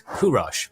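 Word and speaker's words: Kuruš: This boy, known as Kurosh by Old Persian pronunciation, but to us as Cyrus, came into the world at the royal palace of Ecbatana in 600 BC.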